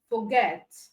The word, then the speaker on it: forget: as the stretch syllable and in for get we have get as the stressed cable all right so we